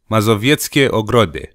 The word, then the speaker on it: Mazowieckie Ogrody: Mazowieckie Ogrody. God, it feels strangely natural pronouncing it that way, because it's kind of what some Romanian sounds are like, so not that difficult.